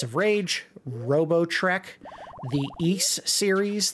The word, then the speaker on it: Ys: Rage Robo Trek the East series The Ys I believe it's pronounced East uh shenmue 2 and